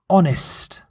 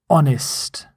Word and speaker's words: honest: Honest. Honest. Note, you don't pronounce the H. This is silent H at the start of the word honest.